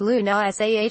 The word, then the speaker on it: Lunasa: Lunasa, pronounced Luna Sah, marks the heart of summer, and celebrates the harvest season.